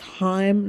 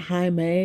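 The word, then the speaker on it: Chaim: wrong this whole video it's Heim not Jaime but I'll say it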